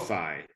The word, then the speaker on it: SoFi: SoFi rhymes with so high.